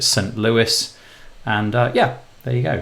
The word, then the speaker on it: St. Louis: Louis I always want to say some low E but I'm pretty sure you pronounce it st. Louis and yeah there you